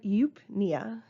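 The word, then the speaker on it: eupnea: prefix is U euu it's just pronounced with the u sound which means normal there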